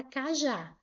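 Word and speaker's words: cajá: Por isso, gente, que eu acentuei aqui a palavra kajá. Olha, eu acentuei a palavra kajá. Por quê? Porque ela é uma oxítona. A sílaba tônica é a última.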